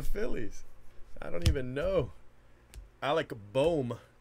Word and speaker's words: Alec Bohm: Alec Bohm is actually, I think, how you pronounce it, but I call him Alec Baum. But it's Alec Bohm.